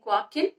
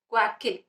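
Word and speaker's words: Joaquín: The Serafin is pronounced as Serafin. The second one, that is Joaquin, is pronounced as Joaquin.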